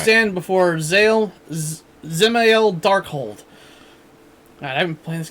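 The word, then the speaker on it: Dzemael Darkhold: I just assumed the D's silent. Yeah. Zemael Darkhold.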